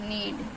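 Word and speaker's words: knee: ऐसे के एन एडी नीड ए के एन डबल ई नी किनी नहीं पढ़ेंगे कई लोग प्र करते हैं किनी बट व किनी नहीं होता नी पढ़ते हैं के हमारा साइलेंट होता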